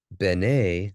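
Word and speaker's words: בְּנֵי: And that would be pronounced A, like they. When you ever you have that at the end of a word, like Beni would be my son. Bene, same spelling, different pronunciation, is son of.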